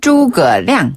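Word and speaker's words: 诸葛亮: 발음하면 였죠 산구네 그리고 우리가 조조 배웠잖아요 조 발음은 차오차오네 맞아요 오오 유비는 유비유비 관우 자 리우베 그렇죠 관우는 관위 관위네 재갈 공명은 주거량 주거량 그런데 장비를 우리가 깜빡하고 장비 장비 그래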